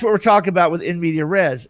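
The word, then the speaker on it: in medias res: entire party as an in media res, in media re, if you're pronouncing it properly with French, as a opening action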